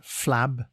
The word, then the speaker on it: flabbergast: Today's word is flabbergast. It is pronounced flab-er-gast and spelt F-L-A-B-B-E-R-G-A-S-T.